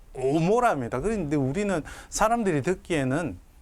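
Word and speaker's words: עמורה: 고모라라고 우리가 기억으로 음력을 하지만 히브리어로는 이 아인이 되어 있습니다. 오모라입니다.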